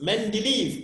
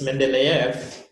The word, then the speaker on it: Mendeleev: let's move that now the next one is mendeleev periodic tables so main belief is the one